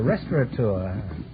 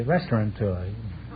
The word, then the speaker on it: restaurateur: a restaurant oh a restaurateur many people mispronounce it and say restaurant toy you will have a